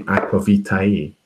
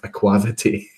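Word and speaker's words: aqua vitae: If you were pronouncing that in the Latin way, it would be aquavitae or tai, where they pronounce all the vowels, all the letters. So the A and E would be pronounced at the end.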